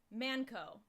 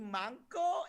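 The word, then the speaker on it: まんこ: And I quote, he said, just tell him Manco. He'll laugh his ass off. So yeah, say Manco, that's my only word. It's actually manko in Japanese, but it's even stupider that I said it wrong.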